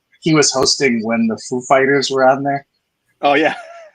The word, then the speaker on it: Foo Fighters: wanted to ask you, where do you put the stress? Like what syllable do you put the stress on the name of the band? And so Dave Grohl goes, it's Foo Fighters.